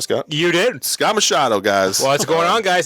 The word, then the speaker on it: Machado: Scott Machado. Did I pronounce that right, Scott? You did. Scott Machado, guys.